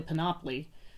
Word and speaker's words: panoply: back and told her it's actually panoply pronounced monopoly but she said she checked